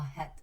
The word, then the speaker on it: head: at this word guys this word has an EA but it's not pronounced as e so it's not a it's a it's a head okay and it's a